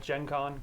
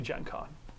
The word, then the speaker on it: Gen Con: short words phonetically so I see G and I go Gen gen Gen Con but it's obviously Gen Con we're in America now yeah that's like generation okay so if I